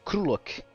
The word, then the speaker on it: Grulok: Do Krulok. Escreve-se Grulok, mas eu quis dar uma pronúncia diferente porque, não sei, me veio na cabeça. Aí eu já coloquei a imagenzinha que a nossa queridíssima Vivi já fez do Krulok.